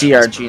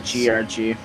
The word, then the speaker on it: CRG: Oh, it's CRG, not GRG.